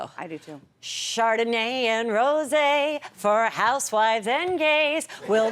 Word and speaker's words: rosé: Chris Kattan, who would not mock me for saying Rose. Would never do that. That's Not why in I'm those so deals. starstruck. That's how I pronounce it. Chris, what would be the Pronounced rosé.